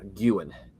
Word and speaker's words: Guin: There's G-U-W-I-N right there. G-U-W-I-N here. G-U-I-N here.